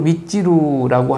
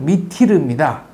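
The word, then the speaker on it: Mytyl: 혜은이 노래에도 난 뭐 찌루찌루와 밑찌루를 알아요, 뭐 이런 노래가 있는데, 원전에 보면은 티르티르, 미티르입니다. 근데 일본에는 이제 T 발음이 없으니까 요거를 찌루찌루, 미찌루라고 그랬고, 그대로 이제 우리한테 굳어진 게 되겠습니다.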